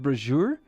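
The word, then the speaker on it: brazier: Now, I know that this is pronounced brazure because that was an awkward comment in one of my videos that sustains a powerful sacred flame.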